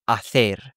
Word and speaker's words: hacer: That th is how you pronounce C's and Z's in Spanish from Spain. And so for example, to do is hacer, they might say hacer.